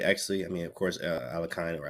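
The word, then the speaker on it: Alekhine: a Sicilian Khan, we saw a French, and now we get an Alekines.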